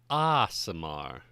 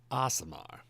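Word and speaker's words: Aasimar: case you're not familiar with what asamar is pronounce aamar aamar Mortals should carry a spark of the upper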